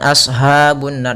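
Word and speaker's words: أصحاب: thii ha hati-hati juga jangan sampai terbaca dengan ha yang besar jangan ashabunar jangan tapi Asha ha halus huruf ha kecil makhrajnya dari tengahtenggorokan kita sehingga kita keluarkannya ha hi hubah ha hi hubah ya Asha ashabun ya kita ulangi ha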